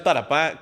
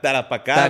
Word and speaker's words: Tarapacá: Oiga, trajimos alguien que sabe pronunciar tarapá. Tarapacá. Bien, correcto.